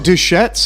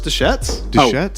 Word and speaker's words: Deschutes: so much better though is it duchettes or deschutes so it's the shetz oregon well